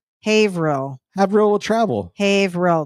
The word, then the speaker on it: Haverhill: No, I was looking at it's Haverhill. Haverhill will travel. Haverhill. It's 2 syllables.